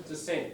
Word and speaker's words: dissent: Anyone like to dissent on any of these? Disagree. Disagree, exactly. So you can use that as a noun and a verb. Dissent, dissent, same pronunciation, doesn't shift the stress.